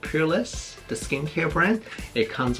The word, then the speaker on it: Purlisse: I believe it's called Purlisse, the skincare brand. It comes with skincare and body care, and let's get started. Okay, so Purlisse, that's how you pronounce the company name.